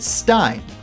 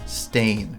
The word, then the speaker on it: Berenstain: In elementary school, my teacher and friends pronounced it Stein. Look, it says stain right there.